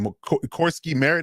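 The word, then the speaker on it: Croskey-Merritt: Corsky Merritt, that's how you say his name.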